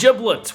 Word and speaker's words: Giblets: of Studio giblets and that's giblets with a soft G as in giraffe today we're going to